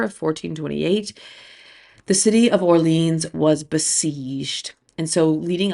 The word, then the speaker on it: Orléans: call the campaign of, in English we would say Orleans, like New Orleans, Orleans. I believe in French it's Orléans, but again, we're just gonna say Orleans because we're Americans, and I'm an American, and I'm doing my best.